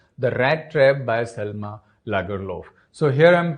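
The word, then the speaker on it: Lagerlöf: rat trap by Selma lagerlov so here I'm pronouncing this word as lagalov because she is a Swedish writer and that's why this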